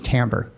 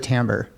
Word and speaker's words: timbre: we would use for this is timbre t-i-m-b-r-e doesn't isn't spelled like it sounds uh but timbre basically